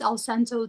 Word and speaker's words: Alcento: Like cento, like cien, like 100.